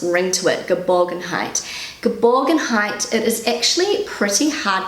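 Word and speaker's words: Geborgenheit: word is gerborgen height so my pronunciation goodbyes google pronunciation gaborgen height i love how it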